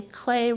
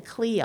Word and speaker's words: Klee: Because he's Swiss, you say his name Klee rather than Klee, although it looks like that.